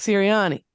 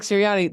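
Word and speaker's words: Sirianni: think me and Nick siriani they're at the same time we probably walk past each other all the time when I was online Nick turani which rhymes with Syrian so I'm just saying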